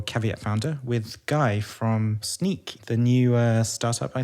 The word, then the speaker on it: Snyk: a bit more detail yeah so sneak you know I get a lot of a lot of comments on how you pronounce it it's short for us so now you know so fundamentally what